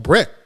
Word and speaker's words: Brett: First name Brett. Brett like Brett Favre. So Brett. That's right.